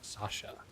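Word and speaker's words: Sasza: By the way, Sasha is pronounced like Sasha. Okay. Yeah, first time I read it, I was thinking how the SZ combination works exactly.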